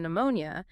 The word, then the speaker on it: pneumonia: Because if I'm studying this and I see that P is silent in pneumonia, my first assumption is just that well, P is always silent before N.